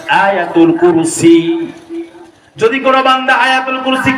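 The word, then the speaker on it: آية الكرسي: বাঙালিরা কয় আয়াত আল কুরসি মূলত বিশুদ্ধ এক্সাক্ট প্রোনাউন্সিয়েশন আয়াতুল কুরসি যদি কোন বান্দা আয়াতুল কুরসি কি পারেননি আপনারা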